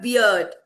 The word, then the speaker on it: beard: Yeah, it's not beard, it's beard. Beard. So it's Beard. a trigraph, na? E-A-R. Here there is a trick, Vinayak sir. E-A, beer, ear. Here it's ear, like ear.